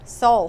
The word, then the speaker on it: Soule: Okay, so I'll tell you, I want to make sure your last name is pronounced Soule. Soule, heart and soul.